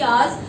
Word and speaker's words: hours: Similarly, another word we have, H again is silent and the sound begins with R. हार तो नहीं बोलते हैं ना, आर को 1 hour, 2 hours, 3 hours, so it is hours.